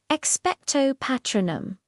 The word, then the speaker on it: Expecto Patronum: First, the classic British pronunciation. Notice the long O and the R vowel. It's precise and formal. Expectto patronum.